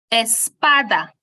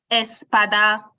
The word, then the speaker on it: espada: um which is Espada the word is pronounced Espada now if I am to snap my finger on the syllable that has a stress which is the second to last one you realize that there are three syllables the word ends with an a a foil which is why we place the stress on the PA which is the second to last syllable which is why we say Espada and not something like